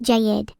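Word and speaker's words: جيد: If it's the adjective well, that's jiddi, pronounced jayid.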